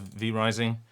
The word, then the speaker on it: V Rising: I am in some DLC or expansion of V Rising. Not The Rising, V Rising.